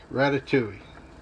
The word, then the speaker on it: ratatouille: with my wife about my pronunciation of rat tat tui or rat tui or ratatouille look it up use the disney pronunciation as uh the expert way of pronouncing a french word and that's the end of that controversy ratatouille okay so while the